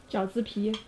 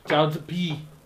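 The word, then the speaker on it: 饺子皮: Jiaozi pi. Jiaozi pi.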